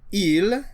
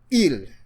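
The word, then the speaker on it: ils: If it is masculine it is ill. The s is silent.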